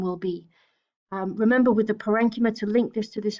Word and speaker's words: parenchyma: is packing tissue called parenchyma and parenchyma or parenchyma depending on how you pronounce it is very unspecialized packing